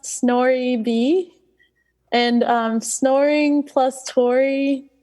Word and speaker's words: snorib: it's a great question um so it's actually pronounced snor B and um snoring plus Tor equals snoring and